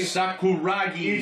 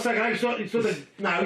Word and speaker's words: Sakuragi: And how do we say his name? Say it properly. Sakuragi. It's Yoshinoro Saganaki. It's not Saganaki. It's not the Greek cheese.